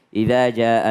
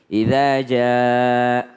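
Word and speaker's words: إِذَا: Biasanya kalau huruf kasrah, i, dan hamzah berbaris kasrah, i, biasanya orang nggak benar-benar menyebut i. Biasanya ya. Idza ja, bukan idza ja. Maka kalau i benar-benar i.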